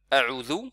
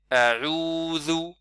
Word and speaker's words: a'udhu: a'udhu. Donc il faut bien sûr allonger, il ne faut pas faire a'udhu, c'est a'udhu.